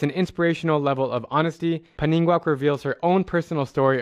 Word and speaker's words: Paninnguaq: Yeah, so the P is like silent. It's Paningwa, and it means the sweet daughter in Greenlandic.